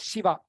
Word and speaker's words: Shiva: So this first sha is how you pronounce Shiva, Shiva.